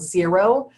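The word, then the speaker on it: Xero: there that I recommend called zero um it's spelled x o now this was developed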